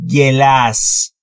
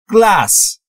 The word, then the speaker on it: glass: دوستان توجه بکنید در مورد تلفظ glass نمیگم گلاس، glass. ببینید بین G و L هیچ صدایی وجود نداره، پس ما هم صدای اضافه نمی کنیم.